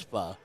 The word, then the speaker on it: pho: I mean, how do you say that? Pho. It's pho.